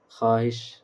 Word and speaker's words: خواہش: وہ واو جو لکھا جائے مگر نہ پڑھا نہ جائے، جیسے خواب، خواہش، خواہ، خان، دسترخوان، خواندگی، خان، اس میں پڑھنا، اس کی پہچان یہ ہے کہ اس کا تلفظ ادا نہیں کیا جائے گا۔ سمجھ گئے؟